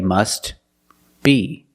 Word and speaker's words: must be: then you could say must be. But if you link the words, you pronounce it must be, must be. The T is silent because it's between consonants when you link the words.